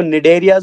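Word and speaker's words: Cnidaria: light area बोलते हैं सी silent रहेगा बेटा इनको नीड एरियास बोलते हैं NRC शुरू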